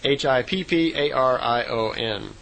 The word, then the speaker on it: Hipparion: And she said the horse back then was called a Hipparion, or Hyperion. I'm not sure exactly how it would be pronounced. It's Hipparion.